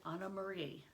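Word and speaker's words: Annemarie: main character is anne-marie well i'm going to probably be pronouncing it anna marie or anna maria because that's how it would be pronounced in um german and probably how it would be pronounced in danish so we know that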